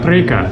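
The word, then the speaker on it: Priekā: Prieka. Preka. Preka.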